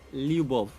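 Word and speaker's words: любовь: And how do you pronounce it? Lub. Say that again. L Y U B O V. Like that. Lub.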